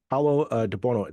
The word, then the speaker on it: Paolo De Buono: thank you uh to uh Paulo debono that is correct pronunciation of your of your name correct or